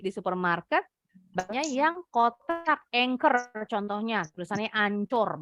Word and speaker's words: Anchor: Banyak yang kotak anchor contohnya. Tulisannya ancur. Bacanya nggak boleh ancur ya.